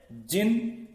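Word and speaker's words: djinn: अब यहां थोड़ा सी एक चीज हो रही है, जिन, ये शब्द आप देखिए थोड़ा सा, ये शब्द है जिन, DJIN, जिन, या डी साइलेंट है, pronounced जिन and variously spelled as जीनी, जीनी, जीनी, जीनी, जीनी।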